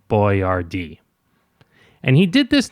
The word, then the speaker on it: Boyardee: So he phoneticized it. Boiardi became Boiardee.